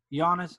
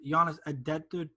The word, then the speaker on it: Giannis: how you say it well actually it's giannis i forget how it is in greek but it's not how